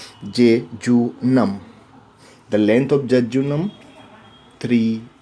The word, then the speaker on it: jejunum: should pronounce this je spelling is je je u nu m and we should pronounce j to numb the length of jejunum